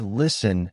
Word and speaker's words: listen: For example, the word listen has a silent t.